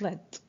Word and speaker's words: lead: And actually, although it has the same spelling as the verb lead, but it's pronounced as the past form of lead. It's pronounced led.